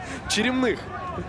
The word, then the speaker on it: Черемных: Черемных, правильно, да? Фамилия, главное, не Черемных или и не Черемных. Черемных? Так в этом же и был вопрос. Черемных. Спасибо большое. Это и надо было уточнить. Ударение.